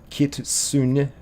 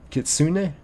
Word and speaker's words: kitsune: Kit says it's pronounced kitsune. Kitsune.